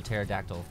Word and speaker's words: pterodactyl: of a of a pterodactyl uh i know the joke and it's why can't you hear a pterodactyl use the restroom because the p is silent no because they're all